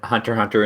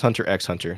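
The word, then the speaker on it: Hunter × Hunter: came up I said Hunter Hunter into Google was is Hunter Hunter over yeah and it's not pronounced Hunter x Hunter so just say hunter hunter the x is like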